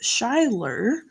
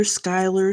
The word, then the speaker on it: Shyler: And my daughter's name, and my eldest daughter's name is Shyler, spelled like shy, Shy, and Ler. And she's been called Shyler, Skylar, Skyla, Skyly, all kinds of funny names.